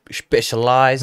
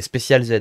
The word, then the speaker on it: Specialized: prononcer, toi, tu dis Specialized. Ouais, Specialized Moi, j'ai déjà Intent. entendu en shop des Special Z.